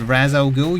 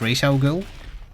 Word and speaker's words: Ra's al Ghul: American and therefore by default he most likely pronounces it incorrectly, so his answer doesn't count. Because if any of you said Raz Al Ghul, you're incorrect. His name is Ra's al Ghul.